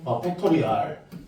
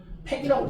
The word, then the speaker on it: 팩토리얼: 요 발음표 아는 사람? 팩토리얼. 이게 정식 발음이고요. 우리 한국 사람들 대부분 줄여갖고 한 글자는 뭐라 그러죠? 팩이라고 그러죠.